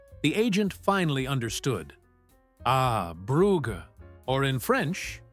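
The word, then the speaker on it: Brugge: Ah, Buga, or in French, Bruge. He pronounced it correctly.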